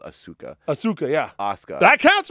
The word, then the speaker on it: Asuka: ASA ASA it's spelled it said ASA but it's spelled Asuka Asuka yeah ASA that counts for me who